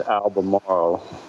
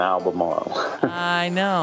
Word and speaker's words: Albemarle: I think it's Albemarle, but it often gets an R in there and people misspell it. But there's only one R in Albemarle.